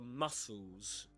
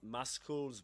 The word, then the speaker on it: muscles: Wolf has some paralysis of facial muscles. Yeah, that's the way you pronounce that word. It's not muscles, but muscles. Muscles and blue-grey pigmentation spots on his skin.